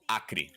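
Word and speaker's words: Acre: go there is a state in Brazil called akri AC re e it is on the far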